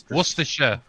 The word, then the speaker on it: Worcestershire: It's like that Worcestershire sauce. Worcester. Right. Worcestershire. There it is. Worcestershire, yeah. Worcestershire.